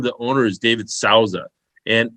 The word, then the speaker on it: Souza: The guy's name, the owner, is David Souza. And it's not spelled the same, but it sounds like the tequila.